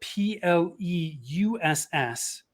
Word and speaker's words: Pleuss: So before we jumped on, you were telling me it's your last name is spelled Pleuss. Correct. But it's pronounced Pleuss, like choice, like Or Rolls-Royce.